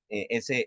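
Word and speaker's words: ζ: Su pronunciación es como la de la Z española, ¿sí? Z, ese sonido como entre D y S.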